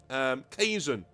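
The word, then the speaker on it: Kzuxun: I'm going to call him Kazun. I'm going to call him Kazun, alright?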